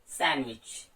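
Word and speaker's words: sandwich: सैंडविच, यहां भी आपने डी को साइलेंट किया।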